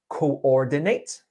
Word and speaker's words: coordinate: One more word that had a slight word stress error was coordinate. Coordinate. Coordinate, You were saying coordinate. yes, it's 4 syllables.